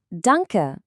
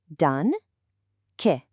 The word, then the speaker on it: Danke: Danke. This means thank you. Let's pronounce it cheerfully and nice and slow together. Dun- ke. Danke.